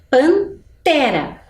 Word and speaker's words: pantera: Nós pensamos panela janela pantera qual será a sílaba mais forte descobriu acertou Quem disse que é o Té porque Vejam o som olha como é bem semelhante né panela janela pantera mas lá no final